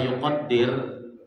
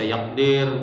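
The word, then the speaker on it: يُقَدِّر: Nah, bacanya kenapa yuqaddir? Karena sebelumnya qaddara, ya kan? Jadi cara menangguhinya ini cara menangguhi. Di situ kan tidak ada harokatnya kan? Bisa yakdir, bisa kita bacaan. Tapi yuqaddir itu lebih tepat karena sebelumnya itu an qaddarallah.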